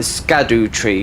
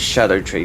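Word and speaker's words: Scadutree: early and it's like scadu tree fragment which is Old English but it's pronounced Shadow tree fragment you can call it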